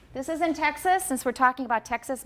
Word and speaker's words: Texas: hanuchi taxis okay dojo texas what vowel do i have in the second syllable of texas it's a schwa definitely a schwa and this is a